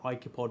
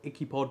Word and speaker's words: Ikepod: table and that is the icopod or icky pod depending on how you say it i'm going to say ichipod because i think that's how i usually refer to it let's take a closer